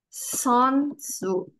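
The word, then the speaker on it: 선수: Sonsu. Bacanya son ya, bukan seon.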